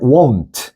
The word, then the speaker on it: won't: 약간 won트 발음을 요렇게 해 주는게 좋아. 그지? 됐어. 요거 왜 그러냐면 비교해서 요거 있지? want. 이거는 약간 want. want 좀 빨리 빨리 붙여. want 요렇게 하면 얘는 won't 요렇게 발음한다고.